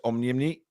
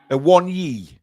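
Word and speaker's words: Awoniyi: Awonyi. Yeah. So it's basically like saying I want ye in Geordie. Yes, I want ye. Except missing the T out.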